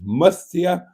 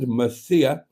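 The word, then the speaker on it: Murcia: Mark Lyon says both pronunciations, Mustia and Musia, are acceptably correct.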